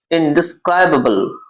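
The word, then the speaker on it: indescribable: इसके बाद वह है आपका ई आई एन डी ई एस सी आर ए डी ए बी एल ई इनडिस्राइबल ध्यान से प्रोनाउंस करिएगा इसका इनडिस्राइबल इनडिसक्राइबल ये आपका एडजेक्टिव है मीन्सिलेशन है इट मींस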